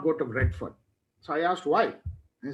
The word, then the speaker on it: Redfern: Redfern, Fern, Redfern.